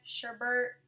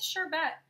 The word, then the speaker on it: sherbet: I feel like everyone always pronounces that word wrong, like sherbet, sherbert. Everyone always says something different. So let's go with sherbet. Lid to brow bone.